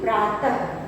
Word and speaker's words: प्रातः: इसके आखिर में हम ह का स्वर आना चाहिए, मतलब जब भी हम विसर्ग का उच्चारण करेंगे तो ह का स्वर सुनाई देना चाहिए।